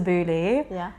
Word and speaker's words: Beaulieu: B E A U L I E U. So, in English you're supposed to say Beaulieu. We just have to Beaulieu. In French it's Beaulieu.